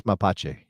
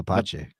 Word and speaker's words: mapache: Raccoon is Mache. Give me Mapache.